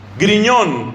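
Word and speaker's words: Grignion: amigo de él que se llama luis maría griñón que se escribe creek y no no con gm luis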